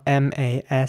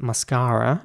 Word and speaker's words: mascara: in British English and it's pronounced mascara in American English so this is similar to Banana the what we just discussed um in British English that basically all us all the A's in this word are pronounced as mascara mascara and in American English it's mascara with an air sound and a quite rounded R towards the end mascara mascara